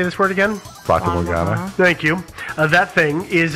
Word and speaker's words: Fata Morgana: Yeah, it's Fata Morgana. Okay. So, Fata Morgana.